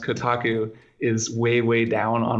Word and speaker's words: Kotaku: point where the fact that my website is pronounced Kotaku is way way down on my list of